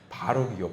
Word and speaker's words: 바로: 발음을이 유튜브 발음에서는 발록이라고 들리지 않고 또 어떤 분은 벼룩이라고 들리나 봐요. 그래서 왜 벼룩 벼룩 벼룩 이야기를 하셔요. 그러니까 아유 권사님 벼룩 말고요. 혼자 빵 터졌는데 바로이요. 바로이라는 이야기를 했거든요.